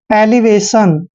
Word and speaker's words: elevation: देखिए ई का उच्चारण हम यहाँ पर ए करते हैं, क्या करते हैं, ए, और एल को हमने ले पढ़ना है, ई को ई की मात्रा पढ़ते हैं, एली, और VA का उच्चारण वे करते हैं। और देखिए TION, जब भी चारों लेटर इकट्ठे आते हैं तो इसको हमने सन पढ़ना है, एलिवेशन।